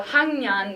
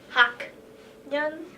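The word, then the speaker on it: 학년: Yong which is and if you would say it like without changing it to the ng sound it'd be like hawk yeah which just it just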